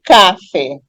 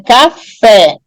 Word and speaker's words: café: é a última sílaba a palavra não é Cafe é café Então eu percebo que